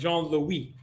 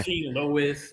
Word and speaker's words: Jean-Louis: See, I'm half Haitian, so it's Jean-Louis. Yeah. Jean-Louis.